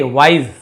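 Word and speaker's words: wise: वाइस स नहीं वाइस नहीं बोलेंगे वाइस।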